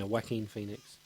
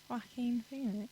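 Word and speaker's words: Joaquin: was superb perfectly suited to the role it's wacking Phoenix that's how you pronounce his name really yeah wackin Phoenix wackin Phoenix do you know what his name was when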